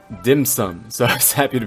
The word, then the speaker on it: dim sum: when Gaming says it, I made sure to do my best Cantonese. Dim sum. And on top of that, Keqing says it, and she's probably a Mandarin speaker, so there is a Mandarin way to say dim sum, and that's dianxing.